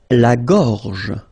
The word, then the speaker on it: gorge: La gorge. La gorge.